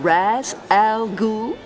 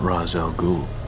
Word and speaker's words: Ra's al Ghul: Mr. Raz Al Ghul? You're not Ra's al Ghul.